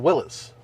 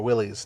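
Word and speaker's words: Willys: Jeep Wrangler twodo uh Willis yes or Willies depending on how you pronounce it or sport isn't it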